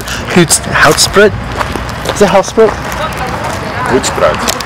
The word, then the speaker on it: Hoedspruit: Is it Hoedspruit? Hoedspruit. Hoedspruit. That's how you pronounce it.